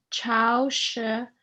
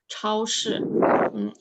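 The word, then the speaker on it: 超市: I know these two characters are pretty hard because it has you have to roll your tongue. 超市.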